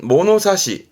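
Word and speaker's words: 物差し: 요거는 발음은 모노사시, 모노사시입니다.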